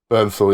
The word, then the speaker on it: Bernthal: Bernthal, yeah.